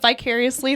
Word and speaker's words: vicariously: Is it V or B? Were you going to say vicarious? Yes, I say it wrong all the time. I forget which one's right. It's vicarious. V? Vicariously.